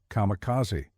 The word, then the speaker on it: kamikaze: though Westerners would come to know them by the alternate pronunciation kamicazi.